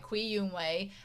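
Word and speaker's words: Cui Youwang: The C has a different What is the the C in Mandarin? How does it sound in English? Okay. Uh, it's Oh, like hats or bits or cats.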